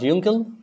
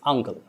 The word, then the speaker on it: uncle: It's not yuncle, it's uncle. It's not looking, it's lucky.